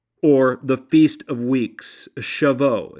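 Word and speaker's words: Shavuot: gathered was to Mark the Jewish celebration of shavo or the Feast of Weeks shavo It's spelled s ha A vuo T now Jewish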